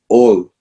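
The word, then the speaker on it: עול: The way you say yoke in Hebrew is ol. Ayin vav lamed. Ayin vav lamed. Ol.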